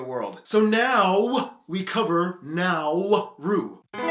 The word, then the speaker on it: Nauru: country in the world so now we cover now rue it's time to learn geography now hey everybody i'm your host barbs yes it's pronounced the pacific islands are always so fun